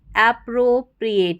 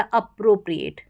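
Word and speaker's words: appropriate: तो इस स्पेलिंग के देखो शुरू में APPRO दे रखा है, इसको अप्रो या एप्रो दोनों तरीके से आपको उच्चारण सुनाई देगा, अप्रो बोलें या एप्रो बोलें।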